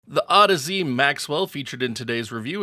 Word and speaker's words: Audeze: Yes, that is how the company name is pronounced, so sorry to all you Audeze nuts memesters out there.